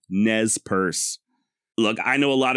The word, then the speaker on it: Nez Perce: And while I'm sure the original French sounded something along the lines of nay per se, I have personally chosen to go with a more modern-day pronunciation of Nespers. Why? Because that's the way the actual tribal members themselves say it. exactly as I am. Nez purse.